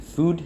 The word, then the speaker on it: Fud: I think they pronounce it food here, which makes more sense.